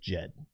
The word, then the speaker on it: Djed: Um, we could just keep doing it just for the sake of doing it, but the correct pronunciation from what I understand is just Jed.